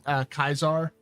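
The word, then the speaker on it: Caesar: I learned that thanks to Fallout New Vegas because I looked up how they were pronouncing Kaisar in anger and learned that they were annoyingly correct.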